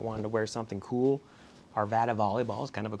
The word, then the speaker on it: Arvada: Us close to Denver it's called Arvada that's how they pronounce it like Nevada but with an Arvada uh but this is